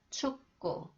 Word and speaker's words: 축구: When 기역 follows the final consonant 기역 that is pronounced 그, it is pronounced 끄 sound. 축구, 축구, 축구 경기 보러 가자.